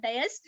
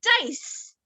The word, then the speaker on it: dais: mistakes what are those dais dies pronounced right it is not diaz it is dice dice okay and a